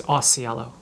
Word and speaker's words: Ausiello: there like a cultural actually the way my mom pronounced as it is Ausiello okay so that's what